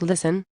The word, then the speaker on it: listen: with my english students it's terribly difficult to get a student to say listen when he sees a word like listen this problem vanishes as soon as i teach them a phonetic alphabet no one pronounces the tea and listen when they're reading lsn when